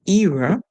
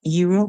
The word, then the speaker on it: era: And the word era, it's just a difference in pronouncing the E as long E or pronouncing it as short E. Eh, right? So you can say era or you can say era. And none of it is incorrect. They are both correct to say, whether you say era or era.